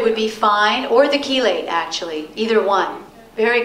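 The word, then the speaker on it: chelate: a sensitive digestive system or even better is kelate which is or some people pronounce it as Chile c h e l a t e um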